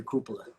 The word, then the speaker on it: cupola: I'm gonna say cupola. Cupola. That is absolutely correct. I mispronounced it. It is cupola.